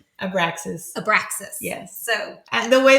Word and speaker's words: Abraxas: So they end up pairing up as, how do you say his name? Abraxas. Yes. I think I said it's Brexus or something like that. I told you I'm going to add sounds. What is it? Abraxas.